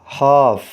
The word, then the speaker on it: half: Word کے spelling ہیں HALF، اس میں بھی ایل سائلنٹ ہے اور اس کو پڑھا جائے گا ہاف، آدھا۔ نیکسٹ ورڈ کے